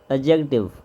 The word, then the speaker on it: adjective: आपकी अच्छी होनी चाहिए इंग्लिश लैंग्वेज में जब भी डी के बाद जे आ जाए तो डी साइलेंट हो जाता है तो यह वर्ड क्या